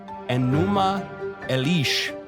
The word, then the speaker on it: Enuma Elish: I'm probably mispronouncing that, but but this notion that the the Genesis story is totally uh derivative, even a copy from a pagan tradition. And so, you know, there's no reason to really give it any credence in a particularly Christian way. Yeah. Well, you didn't mispronounce it, so um you're not